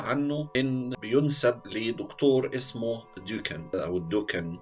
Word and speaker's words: Dukan: هو الرجيم للمعلومة اللي لقيتها عنه إن بينسب لدكتور اسمه دوكان أو الدوكان، هو بيتكتب دال واو كاف ألف نون، أو بالإنجليزي DUKAN، فانطقها بقى أنت بالشكل اللي يكون مناسب ليك. دكتور ديوكان ده بيقول إيه؟